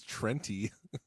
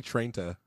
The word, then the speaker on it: Trenta: Trenta. Trenti. It's not Trenta. It ends with an A. Okay, but nobody says Trenta. No one says Trenti. What do people say, Aaron? Say Trenta.